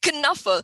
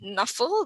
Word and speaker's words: Knuffle: I like to say Knuffle. Actually, Mo Williams says we can pronounce it any way we want. We can say Knuffle. We can also say Knuffle. I prefer Knuffle.